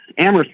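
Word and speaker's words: Amherst: are you calling from Amhurst Massachusetts amst massachus copy that without we don't we don't pronounce the h here I got turn this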